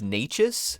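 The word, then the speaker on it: Nečas: That's another name that it took me a while to figure out how to pronounce that properly until he was like a star. It's a skill. Honestly, Necas, Natchez.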